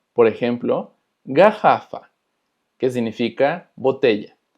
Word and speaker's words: garrafa: También cuando tenemos doble R se va a escuchar como una J de nosotros. Por ejemplo, garrafa, que significa botella, garrafa.